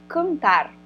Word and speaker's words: cantar: gente tem o cantar cantar a gente escuta tudo ou não Ou tem coisa que a gente não escuta tem coisa que a gente não escuta né então aqui ó esse an é como se fosse um a com um tio em cima tá então um a